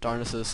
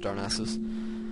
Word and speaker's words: Darnassus: was close enough to darnus I pronounced it darnus I think it's supposed to be pronounced darnassus um so I was close